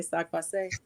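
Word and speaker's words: sak pase: Laroche, I'm gonna say sac passe.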